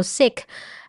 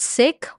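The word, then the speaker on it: Sikh: of the episodes there was there was a sick family which is like I think it's a religion in India it's spelled s i k h and the dad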